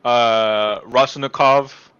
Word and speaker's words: Raskolnikov: So we are introduced to Raskolnikov, Rice. Right, that's how we say his name. Raskolnikov, I Yeah, think.